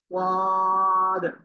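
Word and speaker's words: ض: এই যে, সবাই দেখেন, এই যে অক্ষরটা, এই অক্ষরটা উচ্চারণ হবে ওয়াদ। ওয়াদ, একটু মোটা আওয়াজ হবে।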